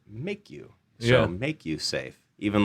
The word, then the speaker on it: Maku: So anyways, it turns out Maku, M-A-K-U, is Hawaiian for risk. And so we said, well, what if we put a line over the A and we pronounce it make you?